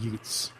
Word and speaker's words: Ute: listen to that and they think you're from Brooklyn and you're talking about Utes. I'm serious. Ute is spelled U-T-E.